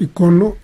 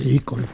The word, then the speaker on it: ícono: Se puede decir de las dos formas, icono e ícono, sí.